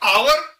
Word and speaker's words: hour: तो यहां पर आवर में HOUR है, लेकिन H ऑलमोस्ट क्या साइलेंट है, तो उसके बाद क्या आ जाता है HO। ओ क्या है, वॉवेल है, इसीलिए ए को एन बोलते हैं।